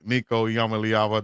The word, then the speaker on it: Nico Iamaleava: Nico Yamaava.